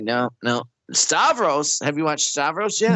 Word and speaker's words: Stavros: So yeah, skip Bill Burr this time and go watch Stavros. And it's spelled like it sounds.